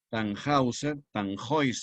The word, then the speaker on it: Tannhäuser: Tannhäuser es la pronunciación correcta en alemán.